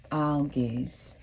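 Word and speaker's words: Algiz: Spirit gave me the Rune algaes and I may be pronouncing that wrong it's a l g i z and so that is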